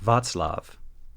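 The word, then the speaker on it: Václav: course of this research ought to be pronounced more like Vatlav.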